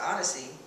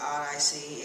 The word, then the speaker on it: Odyssey: So I pronounce it Odyssey, and some people pronounce it Odd IC, and it could be interpreted either way.